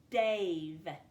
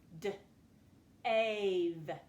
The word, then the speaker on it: Dave: Looking on my paper, that says Dav. This is a closed syllable because that consonant is closing off that vowel, keeping it from saying its name. I need it to say Dave. I'm going to have to add that silent E.